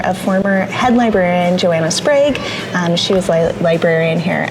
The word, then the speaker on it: Sprague: How do you pronounce the name of this library? Okay, it's Sprag. That's what I thought. It's named after a former head librarian, Joanna Sprag.